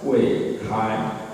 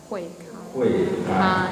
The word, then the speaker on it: Huei Kai: So it pronounced as Huei Kai. Huei Kai.